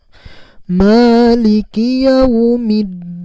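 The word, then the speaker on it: مَالِكِ يَوْمِ الدِّينِ: orbitalnya itu jelas terdengar meliki yaumiddin bukan meliki yaumid diin itu tidak tepat karena menyambungnya malah Korut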